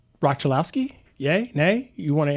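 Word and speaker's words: Roch Cholowsky: Uh, by the way, it is pronounced Rock Chilowski opposed to what uh, Commissioner Rob Manfred called him.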